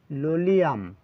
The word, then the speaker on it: Lolium: এবার এই ঔষধটির নাম হচ্ছে লোলিয়াম, ঠিক আছে, টেমিউ লেন্টাম। উচ্চারণটা কী হবে বাংলাটা লিখে দিই, লোলি আম, ঠিক আছে, লোলিয়ামই বলা হয়, সঙ্গে টেমুটাও বলতে পারে।